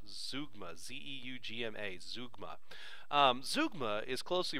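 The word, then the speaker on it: zeugma: a look at a closely related device called zoogma that's how this is pronounced zoogma z-e-u-g-m-a zoogma zougma is closely related to ellipsis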